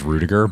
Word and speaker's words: Ruediger: And we have Ruediger here.